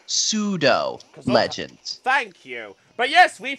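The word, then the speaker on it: pseudo-legend: has one of the what's known as the persuader legends I'm actually actually Chris it's pronounced pseudo legends thank you but yes we found this one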